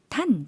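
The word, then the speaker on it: ท่าน: 탄 짧게 발음해 주시면 되겠고요.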